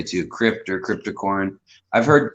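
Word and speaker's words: Cryptocoryne: that's what i would say too crypt or cryptocorn i've heard cryptocurrene um you know kind of from a more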